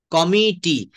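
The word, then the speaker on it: comet: Rent কমিটি। দেখেন এখানে ইকার চলে এসেছে। সি ও কমেট। সি ও এমইটি। এটা আমরা কিন্তু কমিট বলব।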